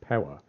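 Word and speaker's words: Piła: I believe down to Pella but we didn't actually go into spell pea ITA but it's pronounced from what I could find it's pronounced Pawa we didn't actually go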